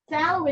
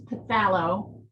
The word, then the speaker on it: phthalo: We kind of pronounce it like TH, phthalo. I mean, you can say phthalo, but often phthalo is how people sort of shorthand it.